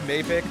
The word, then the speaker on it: Maypick: I just wanted to say my name is Maypick, not Mapic, and also I'm going to kill you.